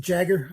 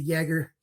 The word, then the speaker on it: Jager: this is the Jaeger not quite the jägermeister some people might pronounce it jagger i pronounce it the Jaeger yeah 118 - gee